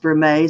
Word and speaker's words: vermeil: Spelt vermeil, but pronounced vermeil, so it's confusing.